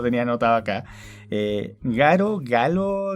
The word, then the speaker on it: Galo: no está acá raro galo lo escribe lo pronuncian garo times bueno los japonés se produce la l por el bueno y él es